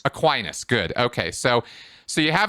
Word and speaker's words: Aquinas: Thomas Aquinas. Am I saying his name right? I've heard it pronounced so many different ways. It's usually pronounced Aquinas. Aquinas, good.